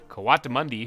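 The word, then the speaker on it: coatimundi: meerkat raccoon bengal tiger kawata mundi which i found out that's how you say it uh pangolin gila monster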